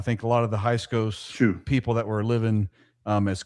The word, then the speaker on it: Hyksos: I think a lot of the Hyksos people that were living as common folk were still following their god Baal.